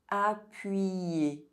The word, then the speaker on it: appuyer: When you see the letter Y between vowels, think about the letter Y as two eyes, as it is also going to affect the pronunciation of the vowel that precedes.